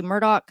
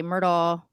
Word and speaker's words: Murdaugh: so some people say murdoch some people say myrtle you'll hear both his father's name is